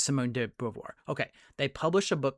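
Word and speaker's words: Beauvoir: Now I may get this name wrong here, but Simon no Simone de Bovar. Thank you. I don't know why that was I know it's Simone de Bvoir.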